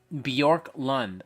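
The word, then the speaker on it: Björklund: this is nitpicking but my name is pronounced Bjork Lund my apologies uh and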